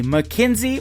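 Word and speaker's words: Mackynsie: Her name is spelled M A C K Y N S I E. McKenzie.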